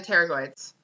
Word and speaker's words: pterygoids: So those are the pterygoids, spelled with a P, because that's exciting.